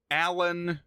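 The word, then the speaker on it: A-lan: group of 3 aliens whose names are Allie, Alan, and Aspen, but it's spelled out A hyphen capital letter of the rest of the name. So A hyphen Lan, A hyphen Lee, A hyphen Spen.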